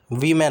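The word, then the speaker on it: women: ठीक है, इसके बाद वीमेन होता है वीमेन। ठीक है, तो ये होता है वो plural form of वीमेन, वुमेन। वीमेन is pronounced वीमेन। द O sounds like I.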